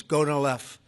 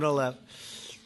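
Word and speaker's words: Gonal-f: all, the IVF drug Go-Nal-F. So it's Go-Nal-F. Is that a proper pronunciation? Very Close well enough, done. right? Very well done. Gonalev.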